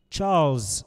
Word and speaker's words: Charles': Charles' desk. Charles, Z sound. Z, Charles, Z.